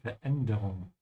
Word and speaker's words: Veränderung: Remember to pronounce the umlaut. Ja, die Veränderung.